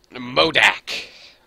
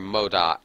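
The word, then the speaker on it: MODOK: us at the top modak or modoc i don't know how it's pronounced or mold doc muldack actually i say modak okay watch out there's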